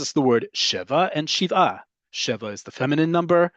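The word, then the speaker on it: שבעה: because it's 7 days, in modern Hebrew is Shiva, because that's the name. It is not Shiva. That's the Ashkenazi pronunciation of it, which is, again, legit. That is just not modern Hebrew pronunciation.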